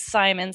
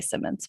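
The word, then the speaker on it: Simons: to be here um my last name is simon's it rhymes with diamonds i always had to tell the announcers that so they could remember because everyone wants to say simmons but thanks for having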